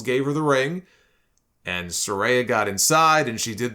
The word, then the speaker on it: Saraya: by her first name which I have been mistakenly uh pronouncing as Soraya and she corrected everybody on Twitter and said it's Soraya so Saraya made her